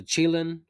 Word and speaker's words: Chilin: For the assault, there's 8 guns to choose from: the MK4 Striker, the Chilin, and yes, that's how you pronounce it.